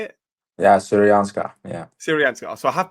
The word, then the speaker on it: Syrianska: Yeah, Syrianska. Yeah. Syrianska. So I have pronounced something well for once.